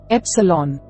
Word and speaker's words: epsilon: A, epsilon makes an a sound, as the a in the English word pet.